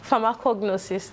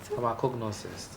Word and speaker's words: pharmacognosist: Pronounce it again? Pharmacognosist. Pharmacognosist.